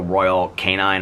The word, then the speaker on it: Royal Canin: It's like the Royal, I guess somebody said I pronounced it wrong. I think I said that already, Royal Canine, but I guess it's Royal Canin or something like that.